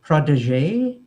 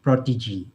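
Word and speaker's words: protégé: a one about pronunciation we pronounce sour not sore and we pronounce um protege not product prodigy i heard uh those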